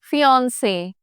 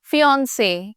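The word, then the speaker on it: fiancée: एंड ऑफ the word you have to pronounce it इन the same manner फियांसे इट्स not that with the single E यू से फियांसे and with the double E यू से फियांसी for both the spellings you only say fins an additional note I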